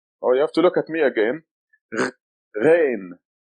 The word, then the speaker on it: Ghain: It sounds like the French R, the French R. Ain, Ghain.